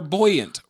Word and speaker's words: buoyant: a nap on cuz they float boy they're buoyant Bo buoyant buoyant you said it right the